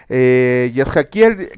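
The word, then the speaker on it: Yechezkel: Hoy vamos a comenzar con un nuevo libro, el libro del profeta Ezequiel, Yezhaquiel, que se pronuncia en hebreo.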